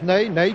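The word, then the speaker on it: Nené: avançant entre brésilien n'aille cela s'écrit comme notre maréchal n'est mais ça se prononce name voici sur votre écran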